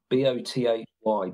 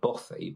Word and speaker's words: bothy: Yeah, bothy, bothy, which is spelled B-O-T-H-Y, bothy, we'd say.